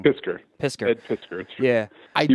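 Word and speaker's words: Piskor: It's the Ed Piscator. Piscator? I'm pronouncing that wrong. Pisker.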